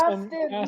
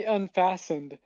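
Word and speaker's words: unfastened: Unfasted means uh like when you're buckling something. No, it would be unfassened. Yeah, you said it wrong.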